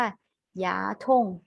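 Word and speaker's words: 牙疼: คะ เขา ปล่อย ฟัน ออก เสียง ว่า อย่า ธง อย่า ชง อย่า ทุ่ง แปล ว่า ปวด ฟัน อ่าน ตลอด ซื้อ นะ คะ อย่า ธง ปวด ฟัน อ่ะ คำ นี้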